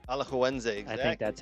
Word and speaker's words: Alajuelense: You go ahead and pronounce that. Alajuelense. Alajuelense.